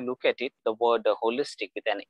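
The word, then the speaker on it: wholistic: to that where which is also i mean pronounced as holistic w h o l i sdic now here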